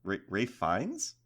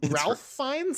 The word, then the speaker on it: Ralph Fiennes: Ralph Fiennes? It's Ray Fiennes, I'm pretty sure. But his name is spelled Ralph.